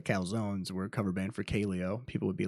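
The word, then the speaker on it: Kaleo: I was listening to this band called uh Caleo and it's spelled k a l EO and I was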